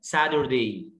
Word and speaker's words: Saturday: الجمعه فرايداي سهله جدا، السبت اسمه ساتردي، ساتردي. ليه؟ لأن التي جاية بين تو فاولز أخدناها في كورس الفونكس، سادر، واليو ار بتعمل اير، سادر، عايز تقول ساتر صح، ساتردي، لكن أنا أشك ساتردي، النهارده الأمريكان أكسنت هو